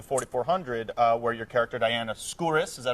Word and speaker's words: Skouris: And you get out here, you get on a great show like the 4400, where your character Diana Skouris, is that how you pronounce it?